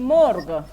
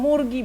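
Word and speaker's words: مرغ: ঠিক আছে, আর এর পরের শব্দটা হচ্ছে মর্গ। মর্গ, আমরা মুরগি বলি, তাই না? আর ফার্সি হচ্ছে মর্গ, উচ্চারণটা আলাদা।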